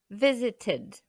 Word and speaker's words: visited: We visited. Ici, on va bien prononcer le E avant le D, car notre racine de verbe finit avec le son T.